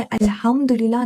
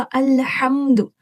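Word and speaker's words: الحمد: सबसे पहले आपने क्या याद रखना है कि इस वर्ड को आज के बाद से आपने अल्हम्दुलिल्लाह नहीं पढ़ना। इसका करेक्ट प्रोनाउंसिएशन होगा अल्हम्दु अल्हम्दु। अभी आप हाथ देख रहे हैं, इसको कितना हैवी वर्ड है। ये कहाँ से प्रोनाउंस होगा, ये देखें। ये आपके गले का जो मिडल वाला सेक्शन है, यहाँ से आपने हा प्रेशर के साथ आपने अदा करना है।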